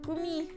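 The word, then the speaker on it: Gumi: It's spelled G-U-M-I. Gummi. Gummi. Gummi. Fiona. Either one. I just finished speaking with the head nun of Hazakura Temple. She testified. Sounds like Gummi. It's two Japanese words.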